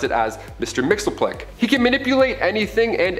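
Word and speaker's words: Mxyzptlk: even translate into earth's languages but we collectively pronounce it as mr mixelplick he can manipulate anything and everything he's nigh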